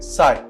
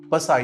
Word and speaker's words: psi: So लिखिए psi. Psi is named as wave function. Psi की spelling PSI. Okay, not SAI. साई Baba नहीं है, पसाई है. पसाई, पसाई का पी साइलेंट है तो साई बोलेंगे.